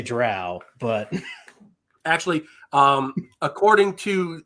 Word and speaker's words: drow: does I I think Scott takes issue with you saying Dro instead of drow it's Dro and I don't care and I'm not changed see I I'm from the south so I say drow but actually um according